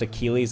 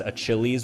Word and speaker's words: Achilles: million by simply reading out this board but pronounced Achilles as a chilies which the judges didn't accept and finally a